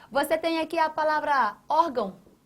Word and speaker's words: órgão: órgão. A tonicidade está aqui, ou seja, não é na última sílaba, é nessa anterior.